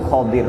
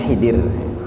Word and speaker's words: Khidir: Sebenarnya pelafalannya itu Khodir Pak, Kho, Do sama Ro. Kalau orang Indonesia mungkin agak payah menyebutkan, agak susah. Jadi menyebutnya Khidir, Hi pakai Hi. Padahal yang benar adalah Kho, Khodir.